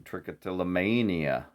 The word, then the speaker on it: trichotillomania: will be criticizing some trichotillomania mayo wants me to stress the may in trichotillomania for pronunciation also called hair pulling